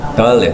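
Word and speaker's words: דלת: 달렛. Dalet. 달렛. 요거는 그러니까 순서대로 하자면 Gimel. Veit. Aleph. 알렙은 요게 있으면 발음이 어떻게 될까요?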